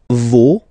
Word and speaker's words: vos: Vos, you don't pronounce it. Leur. Okay, so if we see that one more time, it's me, te, se, and then no, vos, leur.